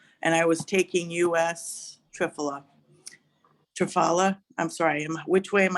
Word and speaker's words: Triphala: And I was taking US Triphala. I'm sorry, which way am I needing to pronounce it?